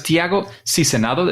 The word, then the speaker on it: Tiago Sizenando: Let's go, because Tiago Sizenando, is that a good pronunciation? Yep, it's pretty close.